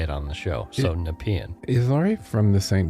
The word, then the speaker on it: Nepean: Now I know how to say Nepean, because I have been mispronouncing it every time I've had to say it on the show. So Nepean.